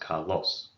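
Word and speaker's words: καλῷ: And, well, in Attic, we don't really pronounce the iota subscripts. Sometimes there's a slight I or iota sound, but I just leave it off.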